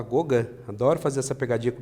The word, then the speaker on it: Gauguin: Fizeram parte os pintores Paul Cézanne, Paul Gauguin, é Gauguin que se escreve, mas fala Gauguin.